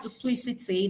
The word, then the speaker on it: duplicity: Words like duplicity that are ethmologically derived from Latin or French have their stress on the anti-penultimate syllable.